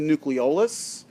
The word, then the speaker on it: nucleolus: That's the nucleolus, okay, or nucleolus. You'll hear it pronounced both ways.